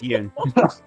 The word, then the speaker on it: Yoon: it's Yoon. Yoon, yeah, sorry. Rhymes with Oh moon. my god. yeah. Okay. It's like moon with a y.